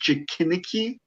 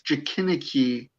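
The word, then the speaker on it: Jikininki: Also, in ancient Japanese culture or ancient Japanese mythology, you have, and I'm pretty sure I'm butchering the pronunciation, but it looks like it's pronounced Jikiniki, and they are emaciated whites, pale beings, and they feast on corpses.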